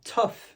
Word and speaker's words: tough: On va dire ça tough. Le son, c'est entre un a, un e et un O.